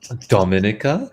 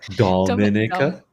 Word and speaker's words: Dominica: YouTube yeah uh Dominica Lego you can't even pronounce my name right Dominica domica Dominica yeah Dominica I'm sorry Dominica well it's